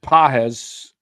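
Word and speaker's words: Pagés: first uh Paz yeah Pages or Paz pronounced pz looks like Pages if you were reading it for the first time um so I was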